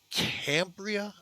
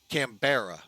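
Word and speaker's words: Canberra: get to Sydney uh Cambria I think is how you pronounce this airport as our uh cambara sorry I had to actually go to simware to find out um that is our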